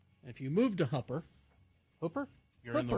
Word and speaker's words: Hooper: and Hooper yes now if you've just moved to Utah and you hear Hooper you might think that's spelled h u p e no no no no Hooper is h o o p e r Hooper mhm perhaps you've just moved but it's hoer yeah if you move to